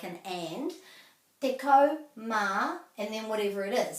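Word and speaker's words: tekau mā: if it's between 11 and 19 then it's deco ma which is kind of like an and deco ma and then whatever it is so this would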